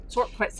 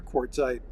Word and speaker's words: Quartzsite: Quartzsite.